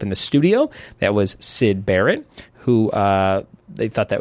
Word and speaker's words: Syd: and Roger Syd Barrett pronounced Syd as in Sydney but that's not where